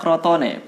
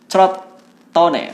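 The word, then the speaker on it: Crotone: atau dipinjamkan ke proton-proton ingat bacanya kroto ne bukan seperti yang sering diucapkan oleh teman-teman Juventini atau ya teman-teman tifosi Serie A yang lain chord Tony tapi kroto Netral langsung ya enggak usah pakai Selat Nah karena permainannya yang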